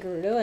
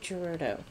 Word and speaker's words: Gerudo: I keep saying, all of this time I've been saying Gerudo, it's called Gerudo. Because it's G-E-R. Maybe.